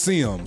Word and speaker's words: Sim: It's pronounced Sim, so Sim Hughes.